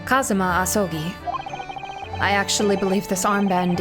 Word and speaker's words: Kazuma Asogi: It's pronounced Kazuma Asogi.